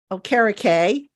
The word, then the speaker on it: Okereke: I had our Locked On Colts co-host on, and he said, "Just remember, carrot cake," and he says you'll never get the name wrong.